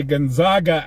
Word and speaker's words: Gonzaga: school to pronounce and we say Gonzaga out here West now in the Deep South they just say goonoo and you know it's